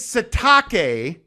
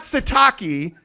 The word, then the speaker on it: Sitake: wait I gotta ask you about the name pronunciation thing his name is satake not sataki and apparently he won't correct people on that